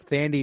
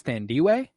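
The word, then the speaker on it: Thandiwe: her first movie as Thandie Newton it was wrong her name is thandiway with a W between e with the between the i and e and it was never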